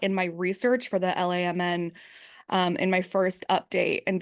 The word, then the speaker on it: LAMN: You don't just say it as a like a you don't just say the letters. You say it like out loud, like an acronym. It's just you just say pronounce it LAMN, which to me seems